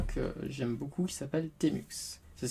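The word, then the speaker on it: tmux: Ici nous allons commencer par un que j'aime beaucoup qui s'appelle Temux. Ça s'écrit T-M-U-X.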